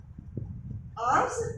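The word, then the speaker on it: alms: हैं उसको कहते हैं आर्म्स इसमें एल साइलेंट है आर्म्स होते हैं गिफ्ट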